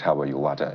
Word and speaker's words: Yilwatda: Now, that is a name you have to learn to pronounce. All right. His name is Professor Yilwatda.